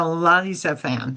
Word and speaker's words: Elizaphan: Eli Zaphan. Right, Elizaphan, son of Uziel. Yeah, Elizaphan. PH would be F.